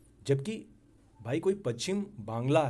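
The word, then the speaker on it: বাংলা: और भाषा को भी कि नहीं वह बंगाली भाषा नहीं है वह बांग्ला भाषा है तेलगु तमिल मलयालम कन्नड़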